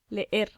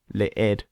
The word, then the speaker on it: leer: Leer, Leer. Leer. no leyer. Okay, leer, which means to read, is spelt L-E-E-R. So it looks like in English, leer. Don't pronounce it like that. It's leer.